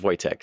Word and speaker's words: Wojtek: I spell it Voytek, but in Polish you would spell it Wojtek, which you'll see sometimes, which Woj is also pronounced Voytek.